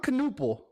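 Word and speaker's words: Knueppel: Con Canoopel, because you say it just like Knuckle, that.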